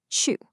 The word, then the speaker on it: 去: Well, for that, we're going to use the character chu, which is pronounced chu.